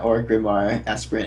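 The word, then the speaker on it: Orgrimmar Aspirant: do you pronounce this or orar aspirant yeah orar aspirant is how I pronounce it all right pronouncing it bad pronouncing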